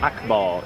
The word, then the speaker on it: Akbar: this one here yeah Akbar and it's pronounced Akbar yep right so every